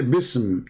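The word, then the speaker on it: بسم: they say the word, the letter alif is taken off because it's heavy to pronounce, harder to recite. So when a Muslim, he will recite the Fatiha, Bismillah, so it doesn't. So what do you say? Bism, to make it easier.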